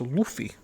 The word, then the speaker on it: Luffy: a little longer maybe two streams guys it's pronounced luffy luffy i reached my personal goals more times